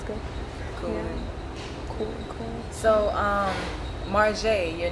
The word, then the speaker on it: M.Jae: like if they say M.Jae, like I just like, no, M.Jae. it's J, like say the whole thing.